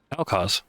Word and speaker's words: LCARS: And I was worried, right, because the actual Lakars is much more muted tones. You're also at 20. Do you pronounce it Lakars or is it Elcars? Elcars. Elcars, because it's not.